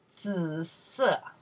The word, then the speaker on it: 紫色: 紫色. Violet. 紫色. Or purple. 紫色, your turn. 紫, the third tone. 色 is four tones.